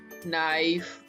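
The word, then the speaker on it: knife: तो इफ के follows N then it's silent, यानी अगर के जो है N से पहले आता है तो फिर ये साइलेंट होता है।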